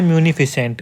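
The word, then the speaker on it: munificent: देखिए इसका बोलने का है म्यूनिफिसेंट, इसकी स्पेलिंग भी हमें याद होनी चाहिए म्यूनिफिसेंट।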